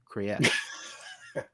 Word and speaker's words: Kriyash: Yeah, we don't want to call it Krish. It's Kriyash. I don't want to call it Krish. Depending how you say your A's, right? It's Right. you come in with an A or long A or a short A or however you want to do that.